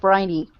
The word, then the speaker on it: Phryne: Frine Fisher. Briney. Briney Fisher. Yeah, because you pronounce it like Briney.